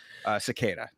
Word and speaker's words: Sequeira: Sequeira. Is how Um, they pronounce.